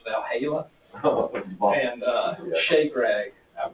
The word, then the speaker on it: Valhalla: it they all had it's not Bell Hallock but it's Valhalla and uh Shake rag